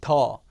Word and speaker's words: 地: 인데 우리가 할 내용은 이 더 이 더 발음이 같아요 정체 는 기본적으로 구조